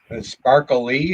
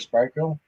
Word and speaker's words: Sparkle: kind of stuff except he got my name wrong okay sparkly instead of sparkle be nice apple all